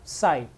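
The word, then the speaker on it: psi: ये त्रिशूल की तरह दिख रहा है वो है साई, पी एस आई, P silent है तो साई का कहेंगे इसको, ठीक है।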